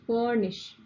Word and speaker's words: furnish: R is silent. Furnish.